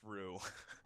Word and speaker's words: Roux: trademark team oh yeah r-o-u-x Rue yeah yeah that's right it doesn't even change the pronunciation of my name we put in the